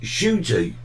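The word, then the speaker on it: Ncuti: on uh children in Nick yes exactly uh pronounced shooty well there you go and last night he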